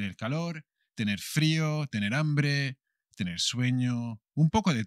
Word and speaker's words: hambre: hungry subir hungry tener hambre hambre tener hambre o apetito hambre con la h que no se pronuncia que como siempre es muda tú ves feeling hungry